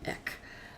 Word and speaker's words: Eck: is I suppose it is Eck because he's icky although plenty there were a number of people I know that used to call them Eve because e he's big but I think the proper